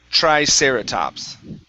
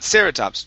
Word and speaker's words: Triceratops: back like aeratops right triceratops Triceratops Yes Okay Tric Triceratops Not sereratops Triceratops Triceratops Okay Good Uh